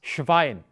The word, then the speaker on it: Schwein: SCH is almost exclusively sh. So it is not das Schwein, it is das Schwein, the pig. Well, in fact, I have been called Schwein quite often, but I